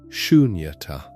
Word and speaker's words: Sunyata: Sunyata. 3 syllables, soft and open, ending on a breath rather than a stop.